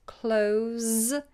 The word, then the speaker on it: close: it in that respect clothes is a Z sound to close in on okay the next one